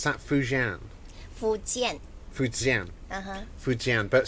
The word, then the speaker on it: Fujian: Would I pronounce that Fujian? Fujian. Fujian, but spelled F-U-J, isn't it? Cantonese should be Fokin. Oh, Fokin. Okay, so it's different.